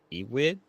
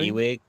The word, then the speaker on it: Ewing: Um the the writer of it is um Ewig Ewig. I think I pronounced that right. Yeah. Al E-wing Ewing E-wing Ewing E with the wing at the ending patch.